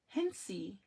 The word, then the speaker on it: Hensey: Hens says correct name, Hensey. Oh, Hensey. Thank you.